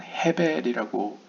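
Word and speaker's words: הבל: 그 쉐스의 앞글자인 shin을 담고 있고, 그 다음에 모세의 이름 가운데 마지막 히브리 알파벳 헤이는 우리가 아벨이라고 부르지만 히브리어로는 헤벨이라고 읽혀지는 이 헤벨의 앞글자인 헤이를 가지고 있다는 것이죠.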